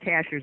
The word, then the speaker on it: Cashiers: cash shares cashiers cashiers they pronounce it cashers around here but it looks like cashiers looks like a cashier